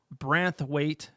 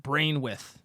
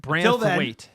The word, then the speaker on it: Branthwaite: It's pronounced Branthwaite, not Brainwith.